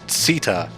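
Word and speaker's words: Tchita: in the cheetah Uplands I think it's actually pronounced Sita judging by some of the voice lines earlier in the game but yeah it's one of those words that's just made up so they get to decide how it's pronounced yeah I mean there's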